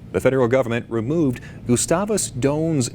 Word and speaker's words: Doane: how to pronounce the name and evidently the pronunciation i found was incorrect it is gustavus doan you said correct yes all right well as